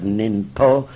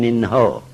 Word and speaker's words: ninpo: And po is the same as ho, in terms of the pronunciation of the word ninpo rather than ninho.